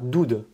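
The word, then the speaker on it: דוּד: Donc ça se prononce Dod. Ou alors, on va avoir Doud.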